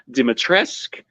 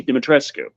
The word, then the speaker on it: Dimitrescu: the way it's spelled dimitrescu according to the people in the game Who pronounce it dimitrisk according to Romanians who know how you're supposed to pronounce the name that's spelled that way dimitrescue you have done some